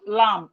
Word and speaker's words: lamb: We have lamb. The being lamb is silent.